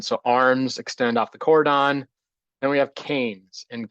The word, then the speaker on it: cordon: usually have horizontal wood we call that the Cordon some people pronounce it cordone um that's that's horizontal